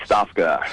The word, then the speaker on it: Stofka: let me get your name exactly right it's it's spelled uh stofka right Stafa Stafa and by the way if you would